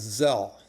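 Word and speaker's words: צל: Now, there are many references to God as Zel. T is silent. Zel is shade.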